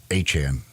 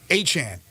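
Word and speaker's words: Achane: mostard ruled out and ion is it aan is how you pronounce it aan aan still to be determined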